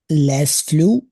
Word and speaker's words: Les fleurs: Kevin, Les fleurs sont jolies. we don't pronounce the S.